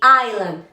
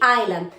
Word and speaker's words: island: es aceptable decir Liberty Island. Liberty Island. La isla, ¿verdad? ¿Cómo se dice isla en inglés? La clave está en no pronunciar la S. Island, no, quiten la S.